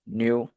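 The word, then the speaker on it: ν: this is pronounced as new this is pronounced as me do not confuse your new with me your Dynamic yeah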